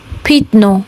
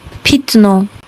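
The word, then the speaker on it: пятно: Number 3, the ya changes to e. When the ya is unstressed, it changes to e. For example, pitno, pitno.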